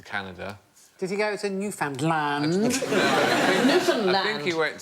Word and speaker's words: Newfoundland: Newfoundland. No. I'm going to have to shoot you now. No, it isn't the correct pronunciation. Newfoundland. Hey, enough violence on this show. Yeah. Newfoundland is the correct pronunciation, and in 1876 a